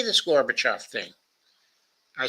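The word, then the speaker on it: Gorbachev: look um um um say garbage but says uh the garbage now just say o off now say them together with the an accent on the off uh garbage off you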